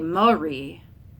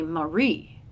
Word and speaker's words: Marie: have to over-exaggerate like I don't say Marie I say Marie and I have to